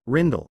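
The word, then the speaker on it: Rijndael: The advanced encryption standard AES also known by its original name Rainall Dutch pronunciation RIDLE 3 is a specification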